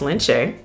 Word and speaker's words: Lince: It looks like Lince, but it's pronounced Lince.